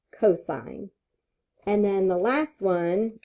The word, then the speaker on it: cosine: All right, cosine is C-O-S, but when we see that, we still pronounce it cosine.